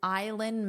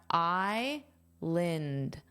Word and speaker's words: island: The spelling and pronunciation do not match here. We have island.